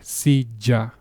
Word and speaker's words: silla: Either way, it's a hard J, silla, okay?